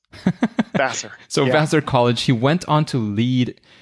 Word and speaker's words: Vassar: How's that pronounced? Vassar.